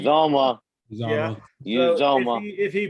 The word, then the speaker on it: Uzomah: Uzomah.